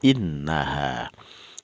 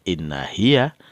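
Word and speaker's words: إنها: alif mad di belakangnya, sehingga dibaca innaha. Ya, innaha minal hindi, bukan inna hiya, tapi dibacanya innaha minal hindi.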